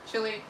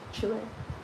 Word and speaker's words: Chile: Pronounce chili like the country. I love it. Chile. We're on the same wavelength. Chile.